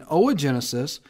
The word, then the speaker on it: oogenesis: comes to O Genesis to pronounce OA it's not o it's OA oogenesis when you're making uh